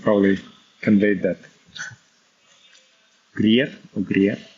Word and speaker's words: Greer: Greer or Greer?